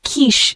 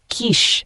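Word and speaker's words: quiche: a luxurious layered cake the word Kish spelled Qi c h e is a noun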